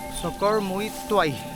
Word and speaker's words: Sakawrhmuituai: तो वही मैं बता रहा था आपको, लगभग 30 से 40 मिनट के रास्ते में है सोकोर-मोई त्वाई। I think that is the correct pronunciation of this.